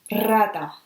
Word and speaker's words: rata: When you will find it in front of the word at the beginning, rata, a rat, is pretty strong, rata.